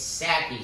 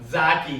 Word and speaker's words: Saki: Zaki. he. Zaki. The limo driver. Wait, say it again. imitated this limo. Zaki. It's No, Saki, Saki, like a nutsack.